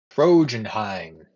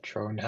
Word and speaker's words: Trondheim: It is Trojanheim. Trojan like the horse, Heim like the doll. No, I pronounced it incorrectly. Okay. Tronheim. Can you put this in notes or?